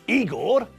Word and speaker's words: Igor: you must be Igor now it's pronounced I Gor but they told me it was eager well they were wrong